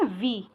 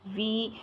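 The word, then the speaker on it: vous: Plural में वी। ठीक है, वी, तो उसको क्या बोला जाता है?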